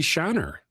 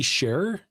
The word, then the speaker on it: Scherer: And then we have Kelsey Shiner. Kelsey Scherer. Oh, I said it right.